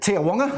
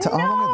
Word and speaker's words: Te Awanga: And nice pronunciation because the locals, those in this thing call it Te Awanga. Never heard of it. Te Awanga, there we are.